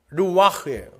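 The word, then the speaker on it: רוח: 여기서 내 신, 내 영, 이게 다 르와흐예요. 르와. 흐자는 원래 발음 안 하니까. 르와흐.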